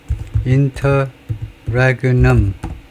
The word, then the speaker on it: interregnum: 확인을 해보면 interregnum 이러면 interregnum 발음은 맞고요.